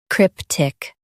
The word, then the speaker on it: cryptic: Crip, tick, CRYPTIC. Emphasize crip and keep tick soft.